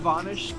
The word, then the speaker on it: Vonish: The name Vonish comes from an old pronunciation of my last name. The pronunciation has changed from Vonish to Vanis. So we went with a phonetic spelling of the old pronunciation as a way to